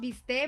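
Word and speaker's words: bistec: the team the team the term mistake it's pronounced be stay but yeah but it's spelled mistake and we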